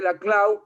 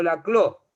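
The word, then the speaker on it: Laclau: A ver, muy bien, Gabriela, porque lo pronunciaste la Clau y no la Clo, porque el mundo trata normalmente de afrancesarlo.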